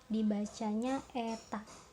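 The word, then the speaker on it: η: Ini tuh dibacanya eta, kayak huruf N tapi agak ke bawah, terus ada kayak ada garis ke atasnya sedikit.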